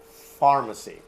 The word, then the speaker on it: pharmacy: most of the time when you see P and H whether it comes in the beginning of a word in the middle of the word or at the end of the world you pronounce it like F pharmacy one more time